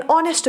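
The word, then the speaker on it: honest: है, लेकिन साउंड कौन सा देता है, एच साइलेंट है, साउंड देता है वॉवेल वाला। NR, एन ऑनेस्ट मैन।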